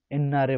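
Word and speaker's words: 옛날에: धेरै समय अगाडि अर्थात् साथीहरू यसलाई एतनारे भन् लेखे तापनि एन्नारे भन्छ, एन्नारे।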